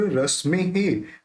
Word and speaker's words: रश्मेः: तुंगोदयाद्रि शिरसीव सहस्त्र रश्मे हे, अब यहाँ पे जो विसर्ग है इसका अपन हे उच्चारण निकालेंगे, रश्मे हे।